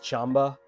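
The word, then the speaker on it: Qanba: iteration of I'm sorry I keep saying Quamba. It's like pronounced Chamba.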